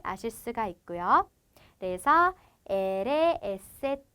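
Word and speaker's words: ese: 자, 얘 같은 경우에는 소리 나는 그대로 이렇게 사용을 해주고요. 시옷 발음이 되겠죠? 그리고 때는 쌍디귿의 발음을 가지게 됩니다. 그래서 엘에, 에세, 때 이렇게 가게 되고요.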